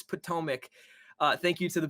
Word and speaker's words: Potomac: we apologize for uh using the wrong pronunciation i like tatamac though i i'm not gonna lie but potomac okay we'll take it you